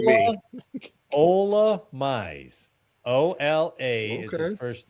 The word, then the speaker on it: Ola Mize: Well, pronounce his this- name right this time. Oh, like me. Ola Mize.